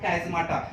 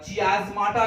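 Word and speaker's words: chiasmata: कई लोग इसे चियाज़माटा भी कहते हैं, बट यू can pronounce as on your wish. अगर आपको कैज़माटा अच्छा लगे तो कैज़माटा बोल सकते हैं, अगर आपको चियाज़माटा अच्छा लगे तो आप चियाज़माटा भी बोल सकते हैं, बट बेटर इज कैज़माटा, ठीक है।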